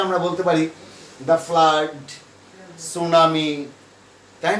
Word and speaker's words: tsunami: তো সেক্ষেত্রে আমরা বলতে পারি দ্য ফ্লাড, সুনামি, তাই না, এরকম আইলা বা এরকম যে সমস্ত প্রাকৃতিক সাইক্লোন, এরকম একটা দিয়ে দিতে পারি।